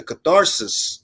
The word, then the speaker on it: catharsis: That's 4 syllables. That's not just one. No, that's 3 syllables.